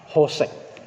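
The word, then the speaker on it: חֹשֶׁךְ: Bapak Saudara, lembaga Alkitab menerjemahkan kegelapan itu dari kata hosek. Tulisannya kosek tapi dibacanya hosek. Dari bahasa asli Ibrani, bahasa asli Alkitab.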